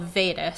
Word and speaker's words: Vedas: Okay, so there is this ancient text, I don't know if I'm saying it right, called Vedas. So it's like Vegas, but with a D instead of a G.